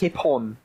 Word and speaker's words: Hipon: pronounce it for us? Hipon.